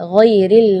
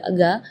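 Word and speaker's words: غَيْرِ: ya, ghairil maghdubi ya, perlu diperhatikan bukan G, bukan huruf G ya, bukan ga, tapi gha. Jadi kalau ga itu dia makhrajnya dari lidah. Ya, tapi kalau huruf ghain itu dari bagian tenggorokan ya. Jadi gha.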